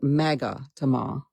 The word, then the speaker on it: magatama: They're called magatama. I looked it up and had Google pronounce it for me today.